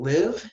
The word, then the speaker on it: live: it right but you live in a city when you reside there okay so there's a difference between live and leave you gotta get that okay let's see here